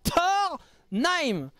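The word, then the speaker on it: Tornheim: Après, ça s'écrit pas pareil, mais ça se prononce comme Thor, le dieu, et Naim.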